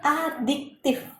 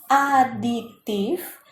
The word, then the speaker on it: adiktif: Kemudian bab yang kelima itu ada zat aditif dan zat adiktif. Beda ya cara pengucapannya. Ini aditif, yang ini pakai K, adiktif.